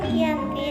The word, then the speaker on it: Giyanti: Pada 13 Februari tahun 1755, nama Giyanti diambil dari lokasi penandatanganan perjanjian tersebut, yakni di Desa Janti. Dalam pelafalan bahasa Belanda disebut Giyanti dan secara tertulis terbaca sebagai Giyanti.